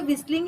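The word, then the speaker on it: whistling: पे लिखा है विसलिंग तो विसलिंग में एक्चुअली टी होता है जो कि साइलेंट होता है हम बोलते तो विसलिंग ही है लेकिन टी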